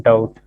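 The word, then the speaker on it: doubt: और डाउट, DOUT। बी हम लोग उसको यहाँ पे खत्म कर देते हैं, सिंपली डाउट प्रोनाउंस करें।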